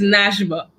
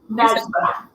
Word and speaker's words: Nashba: And I hope that, pronounce it for me again. I want to make sure. It's Nashba. Nashba.